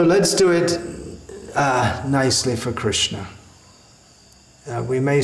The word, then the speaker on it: Krishna: And instead of saying Krishna, often they say Krishan, Kishan.